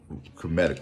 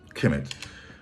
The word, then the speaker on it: Kemet: This is one of the fundamental elements of Egyptian Kemetic, who call themselves, call their land Kemet. That's how we pronounce it, Kemet, KMT. There are no vowels in that script, but which means the land of the black.